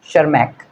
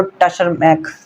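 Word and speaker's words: Tschermak: शर्मार्क शर्माक शर्मक शर्मक यहां पे T silent है और इसकी जो प्रोनाउंसिएशन होगी वो शर्मक शर्मक ठीक है अब ऐसा नहीं होगा कि तुम बोलो टर्मक नहीं टशरमैक नहीं होगा टी साइलेंट है तो बनेगा शर्मक वॉन शर्मक वॉन शर्मक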